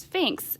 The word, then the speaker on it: Sphinx: Now that's a kind of a funny word to see spelled out like that, but it's pronounced Sphinx.